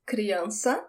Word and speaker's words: criança: The word for child is criança. That C with the squiggly thing we call cedilha, it sounds like an S.